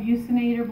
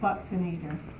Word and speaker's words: buccinator: And I've heard it called buccinator, blow a bugle, but then my dentist said no, it's pronounced buccinator.